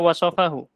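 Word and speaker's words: وصفه: Terus wasofahu, itu bacanya wasofahu.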